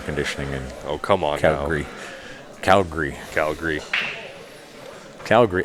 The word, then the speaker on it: Calgary: You probably don't even need air conditioning in Oh, come on Calgary. Calgary. now. Calgary. Calgary. That's the other word that rhymes with hungry.